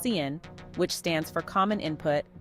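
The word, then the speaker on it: cin: also contains two variable declarations one for sin pronounced Cen which stands for common input and one for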